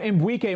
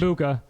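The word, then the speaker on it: Egbuka: And Mbwike might be a top. I thought it was up there. I get it. I don't. You pronounce it how you want. I haven't really looked at it. It's Mbuka.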